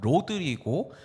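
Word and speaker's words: Rodrigo: Ir 자, 포어 발음으로는 호드리구. 그리고 영어로 읽으시면 로드리고 아마란테의 이레니 아이린이었습니다.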